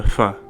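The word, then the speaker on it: फ: fun, that's only because our English letter F is the closest sound to fa. This is an aspirated pa sound. We make the F sound with our teeth and lips, but to correctly pronounce this Nepali consonant, fa, the sound is made with the lips only, and air that blows through the lips.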